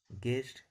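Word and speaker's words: guest: जाता है गेस, guard, गेस्ट। चूंकि यू का उच्चारण नहीं किया जाता, जी ई एस टी, गेस्ट पढ़ा जाता है।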